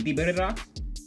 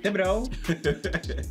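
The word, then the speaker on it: Thibodeaux: How do you say his name? Dibidrox? Thibodeau.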